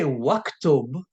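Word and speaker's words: وَاكْتُبْ: so when I say waktub notice I did not pronounce the alif it's as if I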